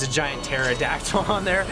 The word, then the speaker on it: pterodactyl: I hate phonetics like I see pterodactyl like it's a petao right cuz there's a p there and like no it sounds like then why even put it in the word there there's